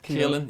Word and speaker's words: Caelan: Caelan, yes, good pronunciation.